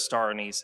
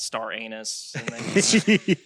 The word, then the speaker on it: star anise: Or some people pronounce it star anus.